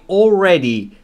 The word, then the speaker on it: already: یعنی پاسخ داد, replied, جواب داد, I already. تلفظ already رو دقت کنید بچه ها, استرس روی آره, بنابراین الش یکم تو دماغی خونده میشه.